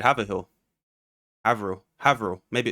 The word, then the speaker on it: Haverhill: Haverhill. Try again. Haffordell. One more time. How would I pronounce it?